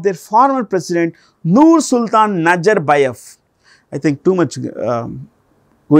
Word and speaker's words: Nazarbayev: In Central Asia, when a word ends in with V, it's pronounced with an F. It's pronounced with an F. So, even if you say Nazarbayev, it won't make any difference.